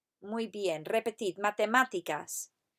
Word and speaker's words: matemáticas: Y ahora, repetid, matemáticas. Put the emphasis on the A with the accent on it. Matemáticas. Muy bien, repetid, matemáticas.